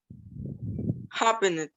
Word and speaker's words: happened: Happened. Okay, remember you don't pronounce the E.